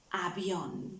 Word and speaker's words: avión: Avión, yes, an aeroplane. Remember, the letter V was pronounced like a B, yes?